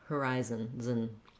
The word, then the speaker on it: horizon: to the n sound if there is a vowel it's a little bit of a schwa unstressed sound or a little bit of an sound horizon um so on the